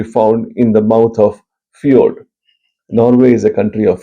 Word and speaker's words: fjord: Anyway, coming to the next question, a fjord, or sometimes they spell it FIORD, and the classical spelling, British spelling is FJORD, is still pronounced fjord.